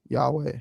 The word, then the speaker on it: Yahweh: So I think if we go with the Jewish pronunciation of letters currently where the vav is a v sound then it would be yhovah. Um but if you pronounce the vav is a was sound then it would be yahweh.